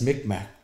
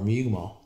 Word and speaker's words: Mi'kmaq: less Micmac, but more Mi'kmaq. Yeah. And then and now that's our politically correct term now, because when you say Micmac, it's kind of like, you're that's not the right way to say it because I'm not Micmac,